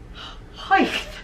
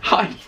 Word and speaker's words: height: Right, apparently the word height is said height. Height. You spelled height with an H on the end, so height.